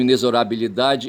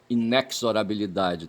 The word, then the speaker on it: inexorabilidade: Então, inesorabilidade e não inexorabilidade, tá certo?